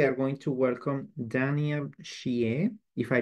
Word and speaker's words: Shieh: I'm Shieh, and that is how you pronounce my name.